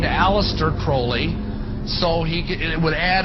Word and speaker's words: Crowley: at his name pronounced Crowley's a rhyme with holy and the Satanists today